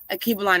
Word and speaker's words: Alkebulan: Akibalan is spelled Alkebulan.